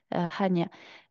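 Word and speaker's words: Chania: on a la cané la cané c'est le nom francisé de hanya Han ça s'écrit ch c'est comme ça que ça s'écrit avec un notre alphabet à nous mais en grec Hania de l'autre côté de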